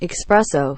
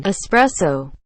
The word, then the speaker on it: espresso: upcoming senses a consensus when people say expresso when they mean espresso there's not a [